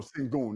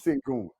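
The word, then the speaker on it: Şengün: Alon sangu s s no singon that's how you pronounce it singon that's who he could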